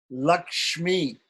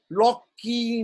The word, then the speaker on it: Lakshmi: So he said, for instance, there's a mantra, Shrim, Shrom, Lakshmi, Nrsimhabhyam, Namaha is a mantra, okay? But the Bengalis will say, they'll say, Sing, Chong, Loki, Nrsimha, Bang, Namaha.